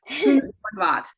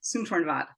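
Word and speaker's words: Soontornvat: Oh my goodness, I'm gonna say her name correctly. Suntornvat. There, Suntornvat. She tells you how to say it on her website, so good.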